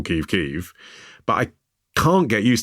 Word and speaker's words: Kyiv: like everyone else that people in Ukraine like to call Kiev Kyiv, and I call Kiev Kyiv, but I can't get used to calling the chicken Kiev a chicken Kyiv.